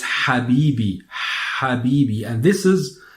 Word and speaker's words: Habibi: another word you find Habibi Habibi so my love or and hope love Habibi so it's not happy be as you may hear it but it's happy be happy be and this